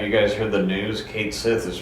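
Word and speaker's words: Cait Sith: and they've said that because we all pronounce it Kate Sith it's pronounced Kate Sith oh okay never mind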